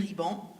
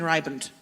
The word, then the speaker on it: Ribant: So mine is actually pronounced Ribant in French, but generally, when it's an English speaker, it's more like Ribant.